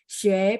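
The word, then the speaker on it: 学: Nah, begitu mau baca yang ada ue gitu ya, ue itu mulutnya separuh dibulatin. Xue.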